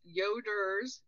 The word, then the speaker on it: Yoder: couple things for listeners yoders y o d r correct yes not Yoda don't get too excited